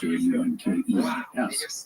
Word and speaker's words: Junkers: If you see the spelling, it looks like Junkers, Junkers, but it is pronounced Junkers.